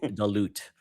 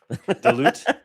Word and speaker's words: Duluth: proper pronunciation dilute. Duluth. Yes, dilute.